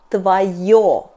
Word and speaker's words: твоё: And neutral — твоё .